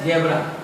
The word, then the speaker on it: zebra: जैसे ZEBRA है, उच्चारण होगा जेब्रा, मतलब जेब्रा।